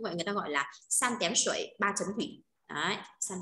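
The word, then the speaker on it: 三点水: Cái bộ ba chấm thủy đấy thì nên đọc bộ ba chấm thủy sẽ đọc là san tén sủy nhá, san tén sủy.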